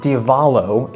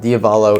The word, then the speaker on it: Diavolo: All right, so we just played a fantastic 9 holes of disc golf at Diavolo is the pronunciation, by the way. I think I messed that up in the intro, but Diavolo is the pronunciation.